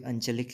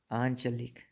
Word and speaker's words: आंचलिक: ये इसका शुद्ध क्या होगा, आंचलिक, ऊपर चंद्र बिंदु और साथ में इसके, ये बिल्कुल सही होगा आंचलिक। देखिए मेरे उच्चारण में देखिए आंचलिक, ना ही अंचलिक कहा मैंने, तो आंचलिक।